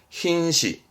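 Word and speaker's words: 品詞: 발음은 흰시.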